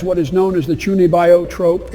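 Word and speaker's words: 中二病: is known as the chuni bio Trope it's pronounced chunio yeah that honestly I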